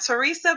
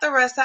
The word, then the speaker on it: Theresa: So, I am Theresa, am not Teresa, but Theresa. I want to make sure that everyone knows the correct way to say it.